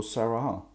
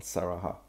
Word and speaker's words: Sarahah: Har du koll på Saraha? Jag tror det är så det uttalas i alla fall. Saraha.